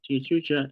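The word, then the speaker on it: Tia Chucha: right there in La Tia Chuka am I saying it right Tony Lis Luis Rodriguez chucha yeah t chucha and noi press in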